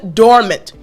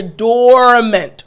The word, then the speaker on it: dormant: simple to pronounce but I want to emphasize or place emphasis on the first part of this word. The OR portion at the beginning of the word you hear dormant, right?